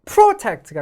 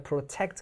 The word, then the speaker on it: protect: 이거 protect가 아니라 protect 강세가 뒤에 있죠.